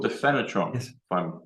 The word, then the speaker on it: PHANOTRON: How do we spell PHANOTRON? It's PH, which by some quirk in English is pronounced F.